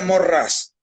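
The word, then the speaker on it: Maurras: no es muy conocido se llama char charles maurrás para quien no quiera interesarse se pronuncia morrás morrales se le atribuye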